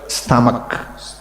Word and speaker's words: stomach: a Then a here after m and c and h it is k so stomach stomach try fakrudin wait try fakrudin stone oh it is british Not British British repeat again.